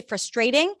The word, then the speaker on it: frustrating: second word frustrating frustrating stresses on the first syllable a lot of people say frustrating and I think you might even see it in the dictionary in American English the stress is usually on the first syllable frust frust frustrating it's very frustrating